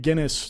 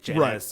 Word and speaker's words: Guinness: So now I know that it's pronounced Guinness.